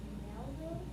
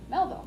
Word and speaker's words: Melville: So many people came that in the 1850s Herman Cover up the last syllable, V-I-L-L-E. Melville Melville, good.